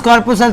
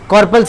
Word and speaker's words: corpuscles: कॉर्पल्स कॉर्पुसल्स कॉर्पुसल्स जैसा इंग्लिश लिखा होता है वैसा नहीं पढ़ते, कॉर्पल्स ही पढ़ते हैं। ये समझ में बात? कॉर्पल्स ही है ये, कॉर्पुसल्स ऐसा पढ़ेगा तो हो गया इंग्लिश। कुछ चीजें साइलेंट हो जाती हैं, समझ में बात?